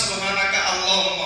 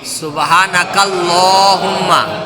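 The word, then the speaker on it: سبحانك اللهم: হ্যাঁ হাফেজ সুবহানাকাল্লাহুম্মা হবে আলাদা হুম্মা সুবহানাকাল্লাহুম্মা হবে না সুবহানাকা আল্লাহুম্মা হবে? সুবহানাকাল্লাহুম্মা সুবহানাকাল্লাহুম্মা হ্যাঁ ওখানে লেখা আছে সুবহানাল্লাহ।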